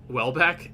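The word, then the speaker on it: Houellebecq: wait is that how you say his name wellbe back yeah that's how you say it yeah how did you say it I was saying like I mean it's just well back yeah I've read the book I had no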